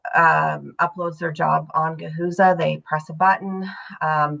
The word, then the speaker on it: Gahuza: Gahuza. And and full disclosure, sorry. How do you spell that?